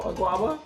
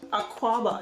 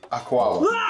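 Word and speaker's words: Akwaaba: Oh no, Aguaba? Aguaba. Aquaba. It's a K. I say a K.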